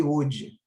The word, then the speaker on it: Oude: olho esqueci de falar ele tanto pode ser escrito né daquelas duas formas é mas a pronúncia e sempre Hood o leite parente está